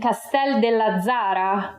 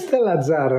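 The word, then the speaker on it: Castell'Azzara: Today we're here in Castel della Zara, province of Grosseto, with Ron Bunzl. Am I correct in the pronunciation? It's Castella Zara, non c'è il del.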